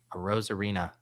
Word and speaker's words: Arozarena: Arozarena. It sounds like the new Latin spinoff to Gil's Arena.